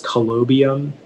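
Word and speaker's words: colobium: information again yeah so the only pronunciation is collobium it's a noun it's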